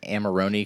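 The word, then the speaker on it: Amarone: Pronounced amaroni cuz I was just going straight with armarillo.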